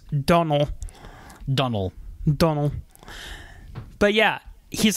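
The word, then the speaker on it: Domhnall: was pronouncing his name Domnhall? Apparently in Ireland, you don't say the N's. The M's. You say the N's, but you don't say the M's. So it's Donnell.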